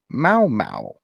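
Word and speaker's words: Mau Mau: traditional European game called Mao Mao okay that's how it's pronounced m-a-u-m-a-u Mao Mao Europeans I would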